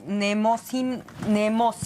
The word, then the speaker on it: Mnemósine: dinos cómo podemos bajar o consultar o descargar eh nemocine, así se pronuncia, nemineose.